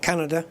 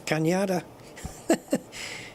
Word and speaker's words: Cañada: It's not Canada, it's Cañada. Because the N has a little, what's it called? On it, which gives you the Nya.